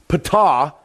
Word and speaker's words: Ptah: Over here on the left is P, I think it's P-H-A-T, Ptah is how it's pronounced.